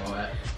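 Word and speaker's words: Moët: Yeah, Moet.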